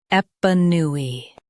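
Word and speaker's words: épanoui: Both US and UK have the same pronunciation of this word, EPANOUI. Now read the syllables shown on the screen naturally. Ep, new, e, EPANOUI. Stress new and keep ep soft.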